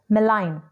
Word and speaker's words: malign: but not least is malign in this G letter is silent malign means evil in